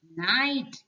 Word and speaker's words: knight: told you the meaning night k is silent so knight means sure